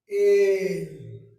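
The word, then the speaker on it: אֵל: उसके बाद है सेरे, सेरे किसी भी लेटर के नीचे 2 नुक्ते लगे होंगे, और ये ए की आवाज देंगे, तो इसको पढ़ा जाएगा एल।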